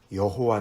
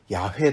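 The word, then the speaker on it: 야훼: 도 이름이 있으세요 그러면 이름이 여호와 다 원래 좀 더 바르게 발판 발음을 하면 야외 다 야외 해 개인적인 이름이 세요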